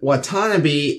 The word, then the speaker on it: Watanabe: Right, but Watanabe is the correct pronunciation, so that's what we are going to use from now on.